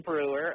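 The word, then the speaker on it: Breuer: Is that how it's pronounced? Yeah, Jim Brewer.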